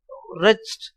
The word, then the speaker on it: wretched: For the wretched, you should not pronounce W, okay?